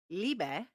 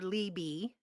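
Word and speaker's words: Leibe: we call her Lily it is pronounced liebe which is the German word for love yes but looking at it it's l e i b e so people call her Libby laby uh I was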